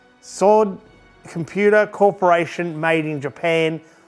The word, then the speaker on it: Sord: It's a sword, I think that's how you say it. Sword or SARD, no, it would be Sword Creative Computer M5, and it's quite the rare old computer.